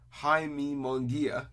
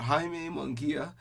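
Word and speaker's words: Jaime Munguía: golovkin to undercard um he fought Jamie or Jaime munguia cuz they'll you know pronounce Jason Spanish missile engages so he fought Jaime munguia and he was knocked out in the third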